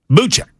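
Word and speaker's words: Boucek: Buchek.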